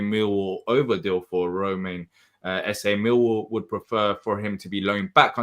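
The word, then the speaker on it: Esse: um have you seen the reports of um essay um I think it's ESS um yeah that that's how it's pronounced according to Mr Dom Smith Crystal Palace have contacted mil over deal for Roman essay mil would prefer for him to be loan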